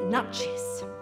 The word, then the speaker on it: Nuchess: tonight now as you just heard it's actually pronounced nut cheese yes now I'm afraid you've been telling it